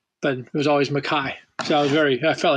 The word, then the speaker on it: MacKaye: said to the crowd how do you pronounce my name they said Ian makai and I was so happy I grew up being called Mackay that's the most people here say Mackay in America but it was always